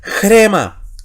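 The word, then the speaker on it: ῥῆμα: Y decimos rema, pero ojo, tiene espíritu rudo. ¿Y qué pasa con el espíritu rudo? Antepone sonido J a la letra. Así que la palabra no es rema, es grema.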